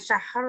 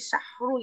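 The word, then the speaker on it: شهر: Jadi bukan syahar tapi syahru gitu ya. Sebetulnya tidak dirukan sih Bu ya. Cuman memang ro itu dia ro dia itu tafkhim tebal gitu ya. Jadi syahru ya.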